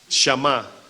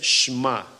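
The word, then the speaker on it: שמע: la escuela de hebreos shama Cómo se dice bueno según los expertos verdad el cual yo no soy uno dicen que la pronunciación es shma cómo es bueno ya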